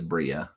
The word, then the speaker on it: Brilla: i know it says the spanish to shine or whatever um but it's also mississippi so very well could be brilla you know i'm saying i think it's bria i think it's the proper pronunciation anyway um we're going